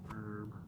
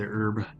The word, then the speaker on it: herb: So, we I got interrupted cuz I got attacked while I was That's herb. Cuz I'm American, so I say herb. Don't pronounce the H.